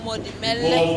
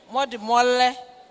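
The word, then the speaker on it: Modimolle: Tomorrow we're going to Modimele. I hope that I'm pronouncing it correctly. Mole or Mole. Okay. We're going to Modimole.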